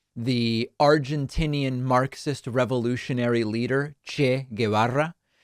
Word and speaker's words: Che Guevara: He talks about the Argentinean, Marxist revolutionary leader Che Guevara, and he pronounces his name Cheikh Kway Vara.